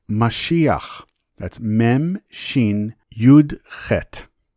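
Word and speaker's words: משיח: The word below is pronounced Mashiach.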